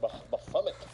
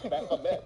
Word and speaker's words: Baphomet: I always pronounce it Baphomet. It's Baphomet.